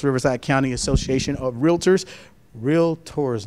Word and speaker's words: realtors: county association of realtors real tours not real lut tours just so y'all know it's a it's a two syllable word not three we're touchy about that all